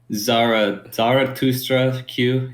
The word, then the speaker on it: Zarathustra Q: Zarathustra Q is my Twitter. Sorry, it's spell it just how it sounds, pretty much. It's like thus, but Thustra is how it's pronounced.